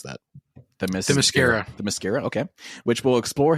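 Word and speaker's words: Themyscira: Ooh, how do you pronounce that? The Mascara. The Mascara, okay.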